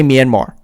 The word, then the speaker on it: Myanmar: the marine who asked him about the coup pronounced minimar minimum minimum they didn't actually say myanmar the the um the implication was there and